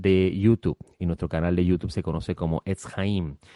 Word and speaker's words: Etz Haim: También tenemos un canal de YouTube y nuestro canal de YouTube se conoce como Etz Haim. Etz Haim se escribe Etz-Jaim, Etz Haim, el camino, el árbol de las vidas.